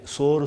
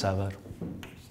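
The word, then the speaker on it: sour: இதை நிறைய பேர் இதை சோறு சோறும்பாங்க. இது சோறும் இல்லை, குழம்பும் இல்லை. இதோட உச்சரிப்பு சவார். அந்த இரு கூட ரொம்ப அழுத்தம் கொடுக்கக்கூடாது.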